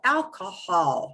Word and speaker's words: alcohol: So here's how alcohol sounds.